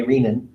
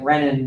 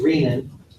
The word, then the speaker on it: renin: that she talked to pronounces it the correct way reenan um so I think I got people pronouncing it renin because that's what like professors do or something like that but it is rean um emphasizing the fact it's coming from a kidney renal source and I say that